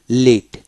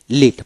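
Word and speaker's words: lead: কিভাবে যেমন এলই এডি লিড লিড পাশে আইপিএস সিম্বল দেহলে এলইডি লিড বা আই এল আই ডি লিড লিড তার মানে কি এখানে এ উচ্চারণ হয় নাই এল ই পি লিভ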